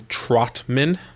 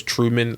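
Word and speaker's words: Trautman: Look, one guy I personally like is Adam Trotman. I always say his name wrong. I thought it was Truman.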